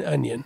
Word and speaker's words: onion: of trained over that there is no G in onion you know how many